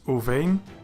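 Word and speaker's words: וּבֵין: It is pronounced as uvein, and it means and between.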